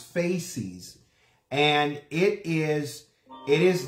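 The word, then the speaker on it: fasces: necessarily pronouncing it correctly on Sunday I was pronouncing it more faces and it's it's really pronounce faces and it is it is this um two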